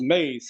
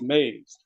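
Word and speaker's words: EMEs: It's called It's pronounced maze. So, when you start reading that in the books, remember that it's pronounced maze.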